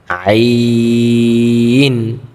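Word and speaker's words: ع: বলা যাবে না, নরম করে বলতে হবে জ, আইন, আইন। আইন উচ্চারণের ক্ষেত্রে আমাদের গলা একটু চাপ দিয়ে পড়তে হবে কণ্ঠতে, তাহলে কিন্তু আইনের উচ্চারণটা সুন্দর হবে এবং নরম আওয়াজে পড়তে হবে, যেমন আইন।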